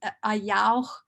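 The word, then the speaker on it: Ayaawx: It's a yao in Tsimshian means law. And so it's pronounced ayao.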